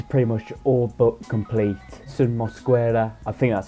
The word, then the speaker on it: Yerson: So yeah, Yerson Mosquera, I think that's how you pronounce it. Like I said, I think the Y is more of like a J in Spanish, so I think that's